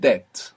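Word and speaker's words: debt: is Deo Deo Deo Deo the English word Deb which is spelled D E B T has this B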